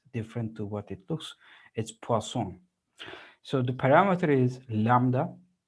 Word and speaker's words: Poisson: first this is not poison distribution okay this is the name of a french mathematician and as many french